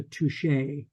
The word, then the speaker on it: Touchet: a woman named Eliza Touchet. Mm. It's Touchet, which I presume is intended to be pronounced in French as touche.